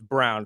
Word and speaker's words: Braun: It's Brown, Christian Brown. I look at his name and immediately want to say Braun because it's spelled that way. But no, I agree with you.